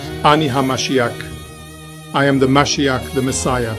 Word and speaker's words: Mashiach: The accurate word found in the original Yeshua Testament is Mashiach, pronounced Mashiach, meaning anointed one, a person chosen by God for a divine mission, and Yeshua himself confirms this.